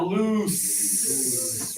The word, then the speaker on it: loose: And here we have loose. Remember, no vibration.